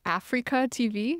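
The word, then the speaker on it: AfreecaTV: hosted on is called Africa TV, which is a Korean-specific live streaming platform. Interesting name. Yeah, it's spelled like A-F-R-E-E-C-A, which is a combination of the words A free broadcasting.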